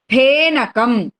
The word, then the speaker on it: ഫേനകം: ഇനി അടുത്ത വാക്കാണ് ഫേനകം. അതിനെ ഫ എന്ന് പറയരുത്. അപ്പൊ നമ്മൾ ഇംഗ്ലീഷിലെ എഫ് എന്നുള്ള അക്ഷരം ഉള്ളതുകൊണ്ട് കുട്ടികളൊക്കെ ആ അക്ഷരം കാണുമ്പോൾ ഫേ എന്നാ പറയാം. അത് പറയരുത്. ആ അക്ഷരം ഉച്ചരിക്കേണ്ടത് ഫ എന്നാണ്. പ കഴിഞ്ഞ അക്ഷരം ഫ.